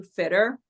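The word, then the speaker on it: Fittr: Um just recently rebranded to Fitter and that's spelled Fi TR.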